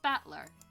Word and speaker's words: Battler: so far problem is my given name that is made up the characters for fight in person it's pronounced battler put all together and